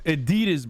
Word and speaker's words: adidas: think that's already been you actually pronounce adidas correctly you uneducated no i'm saying he's turkish bro he's saying it like he's turkish it's adidas bro and nike right i